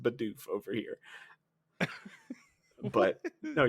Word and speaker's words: Bidoof: is Like, the the German way, but it's pronounced Bidoof over here.